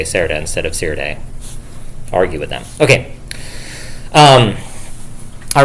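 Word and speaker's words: Serde: JSON library, which is So the Rust programmers are bullying me. They're saying you're supposed to say Sirde instead of Serda. And I'm pretty sure I pronounced that. So it's because it's serialized, deserialized. But when I say serialized, deserialized, I definitely say it with like very soft E. So it's like serialized, deserialized, right?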